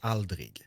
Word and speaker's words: aldrig: it kind of depends where you are in Sweden. Like, it depends on which accent you have. Where I live, it's Aldrig. Okay. So here you pronounce it, but if you use the Google Translate, you use it more like a big city Swedish type of thing, which is as you pronounced it.